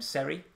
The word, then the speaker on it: Seri: Now, what's changed this year is that Fulham have signed, I think you pronounce his name Seri, Jean-Michel Seri, or worse to that effect, who, is very much a defensive-minded midfielder.